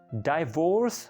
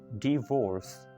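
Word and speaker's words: divorce: Next one, डाइवोर्स हमारे यहाँ बोला जाता है, लेकिन करेक्ट है डिवोर्स, राइट। डाइवोर्स नहीं है, डिवोर्स है।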